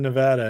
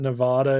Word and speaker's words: Nevada: up my pronunciation of Nevada it's not Nevada it's Nevada Nevada Nevada I like